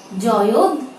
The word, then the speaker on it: জয়ধ্বনি: এখানে ছোট্ট একটি টিপস দিয়ে রাখছি, যখন এমন কোন শব্দ থাকবে তখন প্রথমে দয়ের উচ্চারণ হবে, পরবর্তীতে ধয়ের উচ্চারণ হবে। যেমন শব্দটি হতে পারে জয়ধ্বনি। এই শব্দটির উচ্চারণ কেমন হবে? জয়ধ্বনি। আমরা খেয়াল করি জয়ধ্বনি।